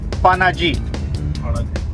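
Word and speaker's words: Panaji: we speaking English then we pronounce the name of a capital as panim when we speak our local language conani P when we speak Hindi panagi and when we speak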